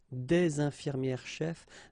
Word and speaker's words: infirmières-chefs: the thing, une infirmière-chef, des infirmières-chefs, the only difference will be here in the liaison, because actually you don't pronounce this final S here or here.